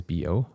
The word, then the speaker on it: Bo: So, um the pronunciation of my name is Bo. Oh, Bo.